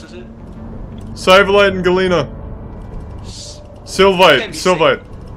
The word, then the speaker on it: sylvite: Galena, Sivalite! Is it all Galena? Yes! What else is it? Sivalite and Galena. Sylvite. Sylvite, yeah, I knew you were saying it wrong, Captain.